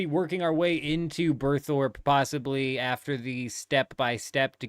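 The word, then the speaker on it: Burthorpe: Have I been pronouncing that wrong my whole life? I'm just now seeing that that's Berthorpe. I've been calling it Berthrope. Berthrope. It birthed the rope. Okay.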